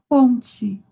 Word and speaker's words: ponte: A ponte. Ok. Palavras com T em português, quando finalizamos com TE, pronunciamos como se fuera TI.